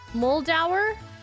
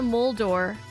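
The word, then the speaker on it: Muldaur: Her name is pronounced Mold Muldau. Well, I apologize. You guys are going to hear me calling her Diana Muldor for up until episode 6 of season two of TNG.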